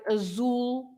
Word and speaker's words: azul: But of course, you pronounce the Z as a normal Z if it's at the beginning or in the middle of the word, like zangado, angry, zangado, or of course zebra, or in the middle of the word, like azul. Yes.